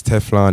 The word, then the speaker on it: Tephlon: the f f h p h and f sounds alike so make your name